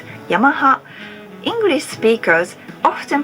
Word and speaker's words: Yamaha: as an automobile manufacturer while Japanese people pronounce it Yamaha English speakers often pronounce it Yamaha why so dramatic because